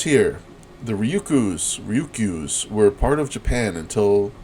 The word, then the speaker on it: Ryukyu: okay so the ryuku I think I've been saying it wrong uh I've been saying ryuku but it's ryuku ryuku Islands what even says there